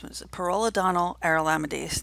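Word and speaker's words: pyrrolidonyl arylamidase: And it's a rapid colorimetric, which is like a rapid, it changes color method for detecting the enzyme pyrrolidonyl aryl amidase. It's pyrrolidonyl aryl amidase. That's how you pronounce it.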